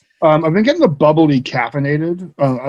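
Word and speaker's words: bubly: so yeah we found out recently that it's pronounced boobly yeah bubbly because we're not i thought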